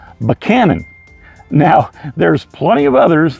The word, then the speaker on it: Buchanan: you're in the area you'll look like an out of towerer when you say Buchanan you see we even change the names of our presence to meet our likings here in Virginia because we say banan now there's plenty of